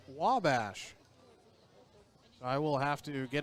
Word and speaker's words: Wabash: earlier i think i called college in illinois way bash it was informed by someone who's very wise much wiser than maine's actually my father that it's pronounced wabash i will have to get him something really